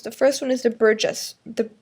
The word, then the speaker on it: Burgess: The first one is the Burgess, the Burgus, I don't even know how to pronounce it. Just think burgers. And instead of the R at the end, you add another S.